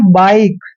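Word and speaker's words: bike: है सभी वर्ड में तो इसका ई का उच्चारण नहीं होता कैसे से जैसे बी आई के ई इसको हम पढ़ते हैं बाइक बाइक पढ़ते हैं कभी भी हम ना तो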